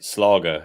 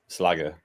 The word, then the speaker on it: Schlager: It might be my fault because he kept putting it in, and I just started pronouncing it Slager instead of Slagger, which I think it was what he intended.